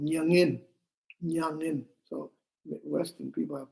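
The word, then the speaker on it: མྱ་ངན: So, Tibetan word for sorrow is called nyangin. Nyangin. So, Western people have problems pronounce this word. You have to say from nasal sound.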